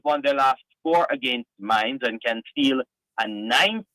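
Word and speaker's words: Mainz: I will start with the Dortmund taking on mines or Mains um talk to us about that over there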